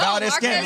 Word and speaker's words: Valdez-Scantling: Yeah, no, Valdez-Scantling.